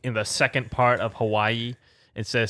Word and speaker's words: Hawaii: Hawaii. Yeah. Hawaii. Yeah, apparently most people mispronounce Hawaii when they say it Hawaii like that.